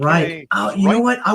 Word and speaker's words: Ryk: R-Y-K. Ryk.